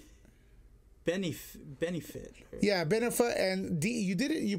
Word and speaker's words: Benioff: The biggest news today, I think, on the internet was that Game of Thrones creators David Benioff, is that how you pronounce it? Benefit.